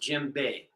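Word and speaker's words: djembe: are called jimbei drums d-j-e-m-b-e Jim Bay pronounced Jim Bay correct and uh the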